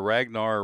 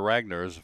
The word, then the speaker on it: Ragnar: will be $1.6 million ragner r a n r Ragnar Ragnar that's how I pronounce it is a dude